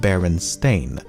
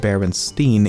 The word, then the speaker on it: Berenstain: remember the name as Baron Steen and not Baron stain I also find it to be the most